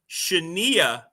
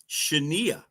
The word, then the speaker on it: Shania: And of course, later she hit it big and was Shaniah Twain. She changed the pronunciation of her name by the request of her record label.